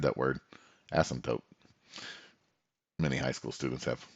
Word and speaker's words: asymptote: it's known as and i'm gonna try to pronounce it correctly asymptote there we go asymptote good it's been a while since i said that word asymptote many high school students have funny comments for